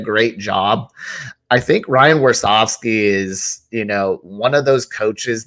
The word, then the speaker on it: Warsofsky: You say Warsofsky? Is that how you say it? Warsofsky, yes, sir.